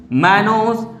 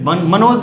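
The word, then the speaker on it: mannose: Very good, lactose, very good, sucrose, और बोलिए मैनोज, hello मनोज नहीं, मैनोज।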